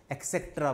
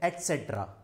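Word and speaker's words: et cetera: सब के सब इसको एक्सेट्रा बोलते हैं। अब यहाँ पे कौन बताए कि एक्स तो कुछ होता ही नहीं है। इसका सही प्रोनाउंसिएशन है एटसेट्रा। एक्स कहीं नहीं आ रहा है, एटसेट्रा।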